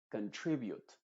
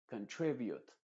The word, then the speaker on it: contribute: Y en verbos que empiezan con la palabra con, por regla general, esa primera O se va a pronunciar como una schwa. Es decir, se va a decir contribute. contribute, confirm, confirm. ¿Te fijas que no estoy diciendo contribute ni confirm, sino contribute, confirm, control, confront?